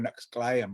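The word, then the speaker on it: Nəxʷsƛ̕áy̕əm: And so we're not Clallam, we are Nexclayam, which means strong people.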